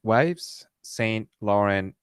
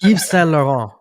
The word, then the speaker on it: Yves Saint Laurent: Next program, I've Wives Saint Laurent Beauty. I don't know how Oh, to it's a pronounce French these. word. Yves Saint Laurent.